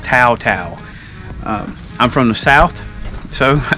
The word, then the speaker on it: Tao Tao: db10 the taotao or teoteo db10 since i did the last video i was corrected um you're supposed to pronounce it tau tau i'm from the south